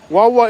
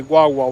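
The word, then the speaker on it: guagua: Wawa is spelled with a G-U-A, Wawa, which means it does mean bus.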